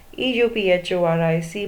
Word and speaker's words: euphoric: and the last one EU phor IC moment we call it as euphoric moment there is a letter in the beginning but it begins with an on vowel sound again year sound euphoric